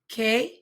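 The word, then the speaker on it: qué: in Spanish it's pronounced que tiempo Ace when you say the word q-u-e it's pronounced k always K and then the word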